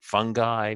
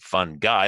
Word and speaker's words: fungi: Fungi, fun guy, like a fun guy, or fungi.